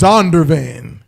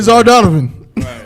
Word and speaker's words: Zondervan: little brother's name oh where is zondervan okay zondervan there you go you don't want to say zar donovan no swear bro but yes zondervan yeah holy usually translated translate